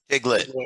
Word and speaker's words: Tiglit: It's Tiglit. Tiglit. Yep. Rhymes with Piglet.